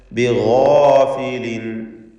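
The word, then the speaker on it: بِغَافِلٍ: ബിഗാഫിലിൻ, ഇസ്തിഅലാഇൻ്റെ ഹർഫായ ഗൈനിനും അതിൻ്റെ ദീർഘാക്ഷരമായ അലിഫിനും തഫ്ഖീം കൊടുക്കുക.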